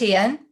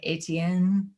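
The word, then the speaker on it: Étienne: me on this one so it's etienne but um am also i i have been called up many times in public for being really lazy and going atn like i americanize it all the time it's terrible i can't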